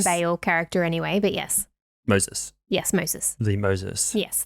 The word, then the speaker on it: Moses: Yeah, but it's pronounced different as well. Moses is Moses. No, Moses is very like Western pronunciation. Moses. So.